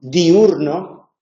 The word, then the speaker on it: diurno: el ejemplo diurno no diurno se pronuncia con tres sílabas Pero porque diurno es